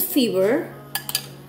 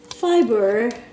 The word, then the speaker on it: fiber: going to be good fever fever fever fever I have to pronun I have to practice my pronunciation fber it's not fever the fever the temperature no the fever okay here you go fiber okay here you go